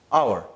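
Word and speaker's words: hour: अच्छा मैं कहता हूं कि आई विल रिटर्न एन ड आवर ए और एन। अब एच के बाद जब नॉर्मली ओ आता है तो वो एच हमारे पास साइलेंट बन जाता है।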